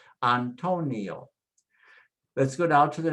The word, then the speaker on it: Antonio: Let's pronounce the vowels so you can hear the sounds first. A, O, E, O. A, O, E, O. And now just drop the consonants in, and it becomes Antonio, Antonio, Antonio.